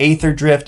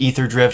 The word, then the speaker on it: Aetherdrift: here to talk about ather drift listen I know that's probably pronounced ether drift and I also know